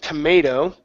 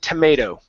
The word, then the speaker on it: tomato: A little trick with tomato. We take the last T and we switch it to a flap T.